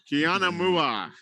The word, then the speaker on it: Kiana Mua: Kiana Mua. On a minute. It's just like it's spelled.